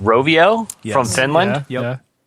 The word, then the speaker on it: Rovio: I think it's pronounced Rovio Yes.